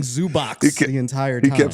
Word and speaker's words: Zubac: Yeah, there's no S at the end of it. Yeah, no S at the end of it. Zubac did go up and apologize after the game.